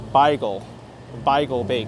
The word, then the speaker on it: Beigel: Bagel Bake, and apparently the way they spell it, the owners of that place, they insist that the way to say it is Beigel Bake, because it's from German. But so far, I like